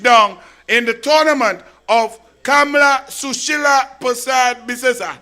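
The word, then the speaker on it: Kamla Persad-Bissessar: in the tournament of Kamla Sushila Prasad Bisesa. You were not saying it right. It's Kamla Sushila Prasad Bisesa. That's how we just say it in the parliament and thing, yeah.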